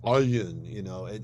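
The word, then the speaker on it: עין: Morocco or Yemen especially, pronounce the ayin, it's totally different from an aleph. It's made with the back of the throat, like ayin.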